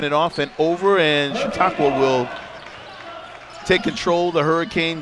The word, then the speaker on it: Chautauqua: Now, they used to be Erie, but they're pronounced, how do you say it, John? What is Chautauqua. Chautauqua.